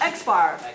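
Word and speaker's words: x̄: everyday values in a population again good it's pronounced x-bar that's better notes the sample mean x-bar sample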